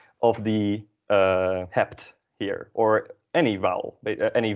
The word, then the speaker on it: hebt: You have is either jij hebt or u hebt. Jij hebt, u hebt. And notice that the B at the end of the word is pronounced as a P.